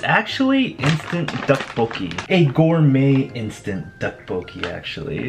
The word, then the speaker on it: 떡볶이: This is one of my favorite Korean dishes, is Dukbokki, and I've always said it wrong. I always said it DaBoki, so this is based off of my channel's name.